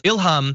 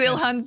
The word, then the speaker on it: Ilhan: So Ilhan Omar says, Ilham, I prefer Ilhan.